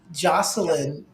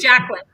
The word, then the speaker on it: Jacqueline: and on because actually, Jocelyn, and I always say her name. I've been saying her name wrong for 2 years now. Yes, Jacqueline. Jacqueline.